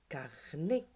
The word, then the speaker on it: carnet: Carnet, tonton, navet, taxi et trait. Bien sûr, le mot carnet, il y a bien la lettre T, mais on ne la prononce pas.